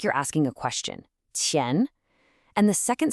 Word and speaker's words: 前: That first syllable, tian, has another one of those initials that can be tricky for us, the Q. This is not a K sound, not at all. It's more like the ch sound in cheap, but